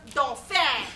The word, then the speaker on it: dauphin: No, it's pronounced dauphin. It's French.